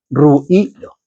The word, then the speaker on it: ruido: Ruido, con dos puntitos encima de la i, tiene 3 sílabas, ¿vale? Ruido.